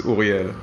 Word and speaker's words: Ouriel: I'm French and Israeli, so the right way to probably say it is Ouriel.